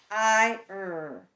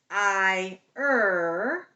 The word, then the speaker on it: fire: Fire. We're not saying fire. Fire. We're saying fire. Okay, do it with me. Fire. Fire. Say it as you write it. Think in one syllable.